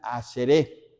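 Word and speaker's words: אַשְׁרֵי: Esta palabra, la palabra bienaventurado, viene de la palabra hebrea y se pronuncia aseré. Aseré. Casi la i ni se pronuncia.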